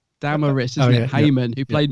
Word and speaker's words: Damaris: LaVine Richard Franklin and daramus oh I can never say her name right let me get it right I was doing that all day as well uh Damaris Damaris is it hymon who